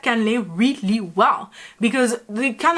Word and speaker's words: cannelé: because the kind of first like intuition would be to say cannelé. But we French people tend to sometimes like kind of get rid of a few letters to kind of again make the pronunciation a lot smoother when we talk, and it's gonna be cannelé. ว่าถึงแม้การเล่เนี่ยจะมีส่วนผสมแค่ไม่กี่อย่าง And here we have